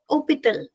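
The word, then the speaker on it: hôpital: Opal is hospital in English and here h is silent. And if you notice opal is me in opal I have not written S because in hospital as in English we have S but when it we talk about French there is no S and the pronunciation is starting from O and ending with L. H is going to be silent.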